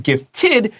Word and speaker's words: gifted: So 我有建议，就是 Hey, listen, 它这位 TED or DED, 它发 tid or did always. You don't need to think about it. 所以因为这个是 gifted 写下来 id 在那个 ed